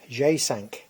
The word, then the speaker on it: J5: um a Peugeot J5 jsank J in French is pronounced G and of course sank five now it's a two